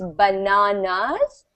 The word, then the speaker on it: bananas: So it's bananas, and in the US, it's bananas. So the N is stressed in US, and in UK, the A is stressed.